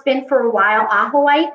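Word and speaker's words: ajoite: been for a while aqua white it's spelled aj o ite okay that's my favorite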